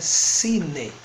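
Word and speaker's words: -σύνη: Outro sufixo importante é sine. Aqui o Y se pronuncia como I. Sine.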